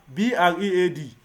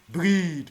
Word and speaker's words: bread: B R E A D. Breed. No. Bread. Okay. Why now? But you told me E A is pronounced as E now.